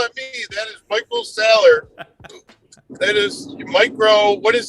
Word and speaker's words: Saylor: What did Michael Saylor, is that how you say it?